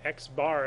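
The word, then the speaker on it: x̄: X bar is how we pronounce that.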